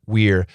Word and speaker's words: we're: which pronunciation should you use absolutely the perfect pronunciation we're we're we're going tomorrow we're going tomorrow that is